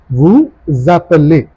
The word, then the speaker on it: vous appelez: Now this S will be pronounced with appelé and the sound becomes Z, like a Z. So it becomes vous appelez.